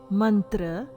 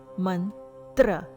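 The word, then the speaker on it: मन्त्र: Letter T in Sanskrit is soft dental ta sound, as in tapas. Word is mantra. Mantra, it is not mantra. Here the sound ta as in tapas, mantra.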